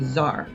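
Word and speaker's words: tsar: word caesar and that t-s-a-r is pronounced with a z zar ivan iii and the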